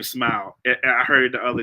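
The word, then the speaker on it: Smael: Uh and I that's meant to say his name Smile. I heard it the other day. Smile. It's it's spelled funny but it's Smile Mundon Jr.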